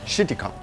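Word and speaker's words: Chéticamp: Cheticamp. But in French, it's Cheticamp. But this is a family show, so it's Cheticamp.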